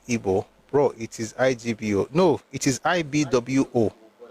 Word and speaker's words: Igbo: I is pronounced IB Wo.